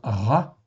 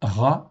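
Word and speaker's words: רַע: s'appelle un patard ok c'est un a donc ça se prononce ra en faitant en hébreu ce mot-là existe 663 fois dans 623 versets.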